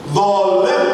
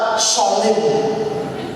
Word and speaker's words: zalim: Karena tidak pernah membuka huruf Arabnya, tapi terjemahannya, sehingga aladina dibacanya aladina, zikir dibaca sikir, zalim dibaca sholim. Saking faseknya itu sholim.